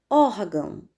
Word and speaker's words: órgão: Órgão, órgão. Sílaba mais forte, or.